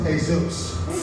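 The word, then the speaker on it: Jesús: You can imagine how disappointed I was when I met Jesus and it was just another first grader and it's pronounced "Hay-soos".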